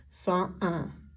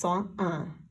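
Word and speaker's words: cent un: So for 101, it's 101. Make sure you're careful. There's no liaison here. You do not say the T. It's 101.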